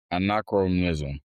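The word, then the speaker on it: anachronism: I mean, spell it again. A N A C H R O N I S M. Anacronism.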